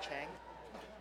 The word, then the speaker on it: Cheng: Last name is pronounced Chang. Tony Cheng.